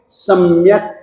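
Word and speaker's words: सम्यक्: सम्यक क हलंत है तो उसके साथ में आपकी ओर से कोई भी स्वर जुड़ना नहीं चाहिए, तो ही उसका उच्चारण शुद्ध माना जाएगा।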